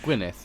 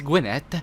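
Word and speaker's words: Gwynedd: it's from The Witcher is that how you pronounce two D's in well Gwyneth yeah right or maybe it's gwynedid that doesn't sound like when it sounds better right Gwyneth winner it's Gwinnett oh I'm just going to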